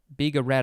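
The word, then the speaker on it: bigarade: on to biga rad biga rad i think that's how it's pronounced b-i-g-a-r-a it is a noun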